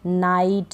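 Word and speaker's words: night: बाद जी एच है नाइट राइट माइट site हाई टाइट इन सभी में आई के बाद जी एच है तो हम जीएच को नहीं पढ़ रहे हैं यहां पर इन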